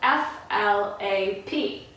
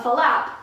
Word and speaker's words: flap: of a funny one because it's actually spelled F L a P so you would think that we would pronounce it flap how many syllables and flap